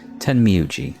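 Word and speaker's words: Tenmyouji: Timmy timmyug I keep like forgetting how the pronunciation of his work his name is ten miuji okay although whatever it seemed although whatever it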